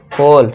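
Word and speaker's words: whole: ठीक है दोस्तों, इसे क्या पढ़ेंगे, हु, इसे क्या पढ़ेंगे, होल।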